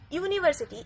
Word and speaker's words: university: Here also university. University is being pronounced as Y-U. U. So that's why we are using A as the article.